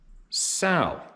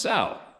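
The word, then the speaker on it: Saurino: Last name pronounced Sal, as in a female pig, LOL. Really, your last name's spelled S-A-U-R-I-N-O. Pronounced Sal.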